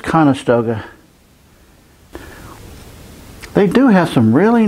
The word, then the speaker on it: Conestoga: family is going in there is that a calistoga wagon doing the oregon trail pronounced it wrong it's conestoga they do have some really nice early american